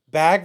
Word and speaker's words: bag: Bag versus You heard beg, it here first.